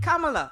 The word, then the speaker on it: Kamala: sworn in, she did say her name correctly, Kamala.